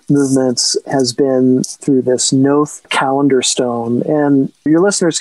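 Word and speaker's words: Knowth: So the first way I started working with celestial movements has been through this Noth calendar stone.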